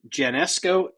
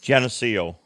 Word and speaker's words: Geneseo: Well, he was in Genesco. How do you say it? Genesco. Geneseo.